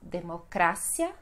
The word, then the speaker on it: democracia: Depois nós temos democracia no espanhol e no português vamos ter democracia. Democracia. Sílaba mais forte, cia.